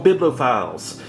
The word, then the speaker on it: bibliophile: is an unboxing for biblophiles or biblical feels however you want to pronounce it I think it's actually pronounced biblophile and for those of